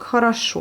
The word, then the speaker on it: хорошо: Il y a 3 O, mais vu qu'elles ne sont pas accentuées, elles se prononcent comme les A, mais elles s'écrivent comme le O.